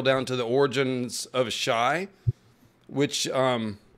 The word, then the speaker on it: Asshai: to the origins of shy which um I'm pretty sure it's pronounced like acai it's a warning against